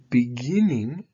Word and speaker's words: beginning: Becomes visiting, but beginning, the last part is stressed.